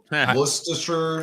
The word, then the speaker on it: Worcestershire: Why is the R in this word non-existent when you pronounce it? Why is it Worcestershire sauce?